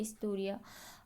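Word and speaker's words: ἱστορία: इसका शुरुआती प्रोनाउंसिएशन ई से स्टार्ट होता है, इस्टोरिया।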